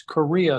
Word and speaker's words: Corea: And that's Corea, spelled with a c, Corea not like the country.